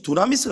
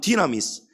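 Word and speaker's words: δύναμις: 말을 찬양도 있고 많은데이 두나미스 바로 권능입니다 헬라어로 본래 발음은 디나미스 영어로는 파워입니다 힘입니다 우리에게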